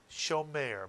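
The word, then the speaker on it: שומר: Two vowels, therefore two syllables, and the first syllable is show. Very good. And the second syllable is mare, Mitsuyan. And the word therefore would be pronounced shomer, Mitsuyan. And Israelis tend to shorten the tsere in certain words to make it sound more like a segol. So many Israelis would say shomer rather than shomer.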